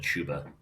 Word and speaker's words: Chuba: It was because we always say Chubba instead of Chuba.